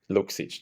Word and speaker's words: Luksic: It's a bit Yeah, I usually pronounce Luksic. That's the best.